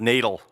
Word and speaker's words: Natal: It's pronounced natal.